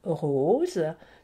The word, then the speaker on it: rose: À côté, une rose, donc entre le O et le E, pas de doute, le S se prononce Z.